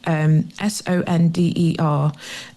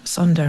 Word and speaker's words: sonder: And there's a lovely word that I came across, and I might pronounce it wrong, SONDER, which I'll pronounce as Sonder, and it's It's a